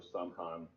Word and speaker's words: Samhain: And yes, it's spelled Samhain or Samhain, but it's pronounced Samhain.